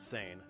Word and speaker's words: seine: that time peran fishing yes we pronounce It Sane was the main fishing